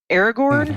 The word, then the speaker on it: Aragorn: Um he plays Aaron Gorn the ranger. Aragorn, how do you say it?